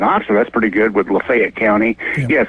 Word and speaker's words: Lafayette: rivalry and in Oxford that's pretty good with Lefayet County. Yes, Lefayet, not Lafayette. That's right. That's right. I know they just don't pronounce it correctly.